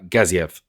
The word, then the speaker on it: Gaziev: have an unranked fighter Shamil Gaz uh gaziev or gazi I've seen it pronounce both ways or heard it pronounce